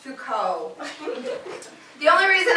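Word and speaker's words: Foucault: once tried to reference fults at a party to make myself sound smart and my friend politely corrected me and said it's pronounced Fuko the only the only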